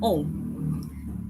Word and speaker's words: ans: to take away foreign notice I'm not pronouncing the s in om o means years normally in French we don't pronounce the last letter of a word of course there are